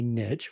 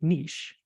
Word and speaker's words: niche: when you find a niche or a niche you are protecting your business so that's where the word comes from oh if if we were using the French pronunciation we would say niche but of course in